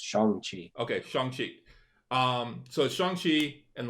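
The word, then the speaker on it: Shang-Chi: was corrected via the internet apparently it is pronounced song song oh yeah apparently according to the chinese it's shangchi okay um so shanghi and the legend of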